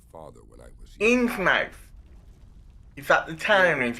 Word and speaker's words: Innsmouth: Innsmouth. Is that the town, is it? Yeah, it can be pronounced either way, but I think it's like Innsmouth in the UK, believe it or not.